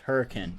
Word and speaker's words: Hurricane: going to look at this area here called hurricane now i knew i i know it says hurricane but it's pronounced hurricane just so you know uh this is gonna